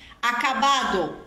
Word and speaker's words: acabado: ado é comum a gente eliminar aí essa essa letra D da do particípio então por exemplo cansado cansao passado passa olvidado orbid acabado acaba cantado cantao eles eliminam a letra d ah mas só quando a